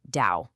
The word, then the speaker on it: DAO: And super important, it's pronounced DAO, like cow.